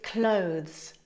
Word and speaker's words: clothes: get started first up pronunciation its clothes a word of just one syllable it's an uncountable noun